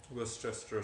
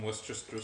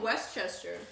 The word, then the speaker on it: Worcestershire: The key to saying it is to ignore how it's spelled and only say a few of the syllables.